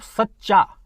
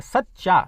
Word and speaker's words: सच्चा: अब बोलेंगे जब सच्चा, सच्चा, तो सा आधा चा है, तो इस आधे चा का भार किस पर पड़ रहा है? सा पर पड़ रहा है। जब उच्चारण करेंगे सच्चा, तो सा पर इसका भार पड़ रहा है, तो इसलिए सा क्या हो गया? ये दीर्घ हो गया, है ना।